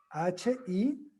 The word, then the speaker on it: Hillel: Y la otra escuela es la de Hillel, que se escribe con H, H-I-L-L-E-L, Hillel, que ya nos quedan un poquito más flexibles.